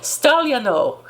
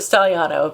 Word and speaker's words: Stagliano: In Sicily, at a local arts festival, Bishop Antonio, his last name is supposed to be pronounced Stagliano, but we're going to pronounce it Stagliano because that's how we are in America, told a group of